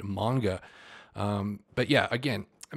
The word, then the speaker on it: manga: always get that wrong it looks like manga but it's pronounced manga um but yeah again